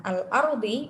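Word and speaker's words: الأرض: Nah, al-ardi itu termasuk yang mana? Yang tafkhim. Kenapa? Soalnya ro-nya disukun dan didahului dengan fathah. Cara bacanya seperti apa? Al-ardi. Tebal atau tipis? Tebal. Oke, cukup.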